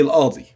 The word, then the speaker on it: القاضي: Okay, القاضي, and we say don't pronounce the qaf. We say القاضي.